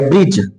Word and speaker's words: bridge: BRIDGE लिखा गया, ब्रिज, तो यहां पर DGE है, तो जी के पहले या डी के बाद हम कहेंगे, डी के बाद जी लेटर आया है, लेकिन इस डी का उच्चारण नहीं हो रहा है, इसको ब्रिज बोल रहे हैं, इसको ब्रिडज नहीं बोलेंगे, डा का उच्चारण नहीं करेंगे, इसको जी को साइलेंट कर देंगे तो हमारा हो जाएगा ब्रिज।